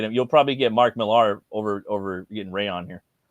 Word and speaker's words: Millar: And it's Mark Millar. It's Miller, but when you say it in Scottish tongue, it's Millar.